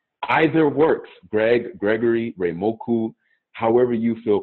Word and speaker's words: Reimoku: Men, connect with this man right here, Reimoku. Did I say it right? Reimoku. Yes, that's right.